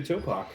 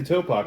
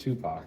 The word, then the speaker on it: Topak: Which apparently is not pronounced Tupac. It is not Tupac. He was a rapper. You should know this. Yeah, but the other way you have to say the word toe.